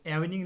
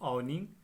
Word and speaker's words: awning: और आवनिंग इसको एवनिंग नहीं पढ़ेंगे, इसकी सही प्रोनाउंसिएशन जो है दैट्स आवनिंग।